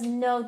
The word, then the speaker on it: Noh: No theater, it's pronounced as no theater, which means talent or skill.